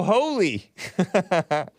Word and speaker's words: Holi: h-o-l-i who knew so I'm like oh it's pronounced Howley I was like is it holy or is it Holly h-o-l-i right it's pronounced